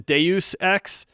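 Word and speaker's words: Deus Ex: I caught some Flack for this so it's Deus x uh you know but that game changed gaming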